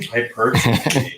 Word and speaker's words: hypertrophy: Hypertrophy.